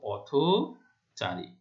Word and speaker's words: পথচারী: আমরা পথ শব্দটি আলাদা করে উচ্চারণ করলে কি হবে? থ এর সাথে হসন্ত উচ্চারণ করি, অর্থাৎ অ উচ্চারণ করি না। কিন্তু যদি এটা সমাসবদ্ধ হয় তখন সেটা অ উচ্চারণ করব এবং সেটির নিয়মের মধ্যে পড়ে সেটা অটা ও এর মতো উচ্চারণ করব আমরা।